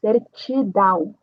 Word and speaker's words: certidão: Ah, temos uma ti e a pronúncia vai ser como uma ti, certidão.